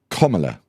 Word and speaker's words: Kamala: The BBC explained how to pronounce her name, Calvin. Go on. Kamala.